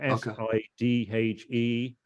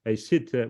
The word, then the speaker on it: Sidhe: the Scots Gaelic, is you're getting a Sidhe with a kind of th sound at the end.